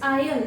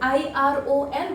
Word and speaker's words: iron: यू आयरन द clothes, iron not iron, IRON, but the pronunciation is you iron the clothes or I am ironing the clothes.